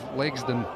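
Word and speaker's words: Legzdins: sure is behind the addition of Legsden, as I'm reliably informed as the correct pronunciation.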